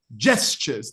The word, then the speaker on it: gestures: and the second one one speaker did say gestures it is Jess Jess gestures that's the correct pronunciation A heard can I